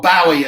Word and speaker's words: Bowie: changed his name to bowie or bowie as it should really be pronounced after the famous bowie knife in america um and that was